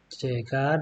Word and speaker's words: llegar: So, llegar, double L is a different letter as well in Spanish. It's called elle. So, should be pronounced ya, right?